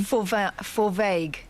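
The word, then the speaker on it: Fovargue: Forvague.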